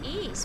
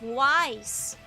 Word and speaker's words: Ys: So I pronounce ease because it's not easy to call it wise.